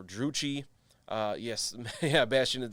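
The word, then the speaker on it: Druchii: loud i think it's d-r-u-c-h-i-i uh which i believe people have told me in the past is pronounced should be pronounced drukai or jukai or drucci uh yes yeah bastian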